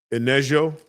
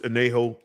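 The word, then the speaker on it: añejo: Inejo. But I feel like the J is not a J. It's probably Ho. Enejo. I'm pretty sure it's Enejo.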